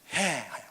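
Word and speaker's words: ה: 5번째 철자고 발음은 해. 한번 따라해 보세요. 해. 저거를 해라고 읽어요. 해 하고 읽어요.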